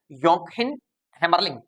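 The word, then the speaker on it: Joachim Hämmerling: थे जिनका नाम है योंकहिम हैमरलिंग। योंकहिम हैमरलिंग, मैं नाम लिखता हूं उनका आपके लिए, योंकहिम हैमरलिंग। भले ही ये जे से लिखा जा रहा है लेकिन प्रोनाउंस योंकहिम हैमरलिंग होगा।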